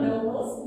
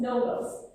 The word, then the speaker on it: novels: No, not novels, novels.